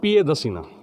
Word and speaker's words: पियदसिना: ही जी जी लेजिना पियदसिना। जी लेजिना मतलब राजा होता है, पियदसिना सम्राट अशोक को कहते हैं। जी जी पियदसिना, पियदर्शी नहीं, जी आर वर्ड साइलेंट वर्ड है।